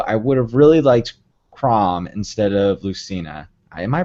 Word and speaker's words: Chrom: Smash Bros., though I would have really liked Chrom instead of Lucina. Am I pronouncing those both right?